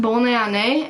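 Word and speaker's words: Bonne année: it's French and I said I said it's pronounced bowline a and it's French for happy new year and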